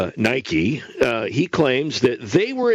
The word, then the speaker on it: Nike: another large apparel manufacturer whose name starts with an N and rhymes with bikie Nike he claims that they